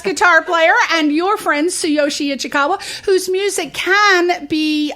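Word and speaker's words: Tsuyoshi: he's also on YouTube so say his name slowly yeah oh yes so Yoshi ichikawa that's t-s-u-y-o-s-h-i yeah I think I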